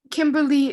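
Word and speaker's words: Kimberley: here is kimberly amber kimberly is spelled weird it's k-i-m-b-e-r-l-e-y kimberly is in orange it's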